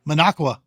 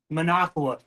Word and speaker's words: Minocqua: Do you say is it Minocqua? Yeah. Minocqua. Minocqua.